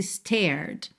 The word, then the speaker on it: stared: Esse stared tá no passado, mas você pode pronunciar como se ele estivesse no presente. Por quê? Porque o e é mudo.